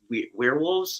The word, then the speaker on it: We're Wolves: Yeah, some people say werewolves. Some people say we're wolves, which is the actual pronunciation.